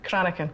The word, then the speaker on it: Cranachan: Cranachan. Cranachan. You need the Scottish. You need to be able to roll your R's.